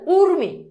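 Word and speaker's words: ঊর্মি: দীর্ঘকার তাহলে বানানে সরি বানানো যদি যদি থাকে দীর্ঘই অথবা দীর্ঘকার তাহলে উচ্চারণে হবে রস অথবা রসুকার যেমন দেখো উর্মি দেখো বানানে আছে কি দীর্ঘকার এই যে দীর্ঘ উচ্চারণে দেখো হয়ে গেছে কি রস বধু দেখো এই যে বানানে আছে কি দীর্ঘকার উচ্চারণে সেটা হয়ে গেছে কি রসুকার সিম্পল এরপর খিয় খিয় যদি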